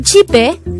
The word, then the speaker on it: 집에: The word JIB-E could be divided into two syllables, JIB-E. JIB is formed from the combination of the sounds of chiyut, e, and biyup. And e is just the sound of e itself with a placeholder e at the first position of the syllable.